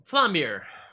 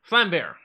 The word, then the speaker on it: Vlambeer: Flambeer. Flambe. Flambeer. Also, Flambe. it's spelled a bit strange.